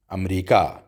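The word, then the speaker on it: أمريكا: तो जैसे उर्दू में आप अमेरिका को अमरीका कहते हैं, इसी तरह से अरबी में भी अमरीका ही कहते हैं, लेकिन ये लिखा जाता है अलिफ़ के साथ, यानी आखिर में अमरीका के अलिफ़ आएगा.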